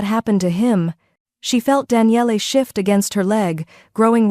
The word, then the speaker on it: Daniele: Daniele. He pronounced it carefully, all 3 syllables distinct.